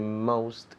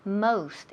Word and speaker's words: most: Most. Esa O suena como si fuera una O-U. Most.